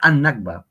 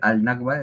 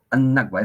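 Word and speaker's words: النكبة: chiquita es la N en árabe y esta N absorbe el sonido de la L. Uy, el sonido de la L. Entonces, eh para hacer más fácil la pronunciación, en vez de decir al Nagba, es annba.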